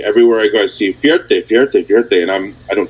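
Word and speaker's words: Fierté: And it's called Fierte.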